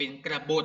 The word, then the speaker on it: กบฏ: ก็ คือ เขา เป็น กระบท นะ คะ ก็ ไก่ บอย ไหม ตัว ติด นะ คะ อ่าน ว่า กระ บท นะ คะ กบฏ คือ ใคร